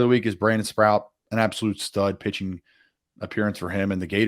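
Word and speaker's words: Sproat: play of the week for me is Brandon sprout and before we yank this for the clip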